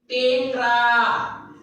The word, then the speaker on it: টেংরা: দেখো দেখো আগে আমি লিখছি নেংটা নেংটা টেংরা নেংটা টেংরা। দেখো নেংটা টেংরা, এখানেও এ ধ্বনির উচ্চারণটা ঠিক, এখানেও এ ধ্বনির উচ্চারণটা ঠিক।